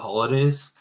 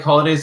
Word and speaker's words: Holodais: I think it's like Holidays. It's spelled funny. It's HOLODAIS, kind of like hollandaise sauce.